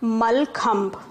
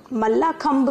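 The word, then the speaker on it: मल्लखम्ब: तो हमारा जो ट्रेडिशनल गेम है इसका नाम, स्पेलिंग आप देख रहे हो, MALLAKHAMB, इसको हम पढ़ते हैं मलखम्ब। मल्लाखम्ब भी बोल सकते हैं, but most of the people से इट मलखम्ब।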